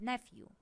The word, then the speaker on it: nephew: or brother's son means nephew ph here pronounced like f number 23 my brother's